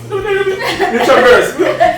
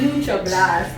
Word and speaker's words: Nutraburst: The bad partner pronounce right. Nutraburst. Yes. Yes, yes, yes. Not Neutral Blast.